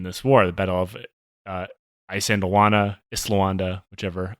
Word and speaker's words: Isandlwana: war, the Battle of Isandlwana, whichever. I've heard it pronounced both ways. I believe Islawanda is correct.